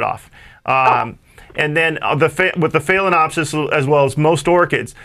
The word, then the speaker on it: Phalaenopsis: Have no idea how to pronounce that. Phalaenopsis? Phalaenopsis, yeah.